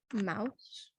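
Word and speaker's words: Maus: glass um I read I think it's pronounced Mouse m-a-u-s it's one of the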